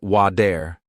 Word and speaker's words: water: For example, water sounds like wader, better sounds like be dare, city sounds like sid-e.